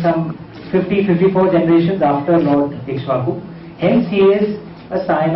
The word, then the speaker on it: Ikshvaku: And I know, and I've been told a lot of people have some problems in pronouncing Ikshvaku. It's Ikshvaku. Lord Ikshvaku was the founder of the Suryavansh, of the dynasty of the Sun God.